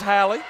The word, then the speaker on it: Halle: number five from robinsville that is halle anderson i did get that pronunciation right her name is hallie and it will be